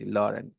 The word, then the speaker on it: Laurent: Long, but his name is Laurant or Rent, Laurent. Okay, हम लोग उसको लॉरेंट पढ़ेंगे, Laurent.